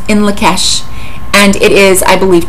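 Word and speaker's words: In Lak'ech: that particular phrase, and it is pronounced in Lakesh.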